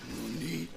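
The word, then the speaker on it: なに: You don't say nanny, you say nani.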